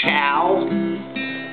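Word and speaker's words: ciao: i a o a friend of mine said see i a o is pronounced Chow so I looked it up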